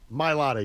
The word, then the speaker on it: Mailata: Mailata? Yeah. Mailata, yeah.